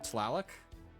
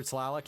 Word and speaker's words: Tlaloc: to pronounce it properly because T and L do not go together at the beginning of a word for conventional English. Much less doing T-L-A-L, Tlaloc.